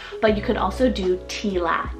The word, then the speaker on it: Tila: l i a but you could also do Tila t i l a now both of these